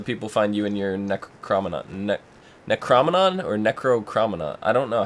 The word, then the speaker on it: Necronomicon: John, where can the people find you in your Necronomicon or Necrocrominon? I don't know. How do you pronounce that thing?